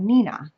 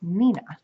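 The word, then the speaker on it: Neenah: once before it's called Nina and I you set that wrong the first time because it's the way that it's spelled it looks like it says Neha but it's actually pronounced Nina which is a city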